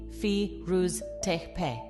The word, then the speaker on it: Firuz Tepe: One of the most important pieces of evidence comes from an archaeological site known as Firuz Tepe, pronounced Firuz Tepe.